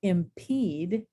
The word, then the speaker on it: impede: And in the word impede, we have a long E sound.